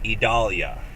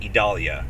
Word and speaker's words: Idalia: the stage for hurricane idalia which is the correct pronunciation by the way idalia three syllables idalia in case you're curious